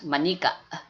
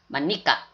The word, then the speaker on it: Manika: If Manica, although it's a Tagalog word, it's you're supposed to pronounce it as Manika. Manika.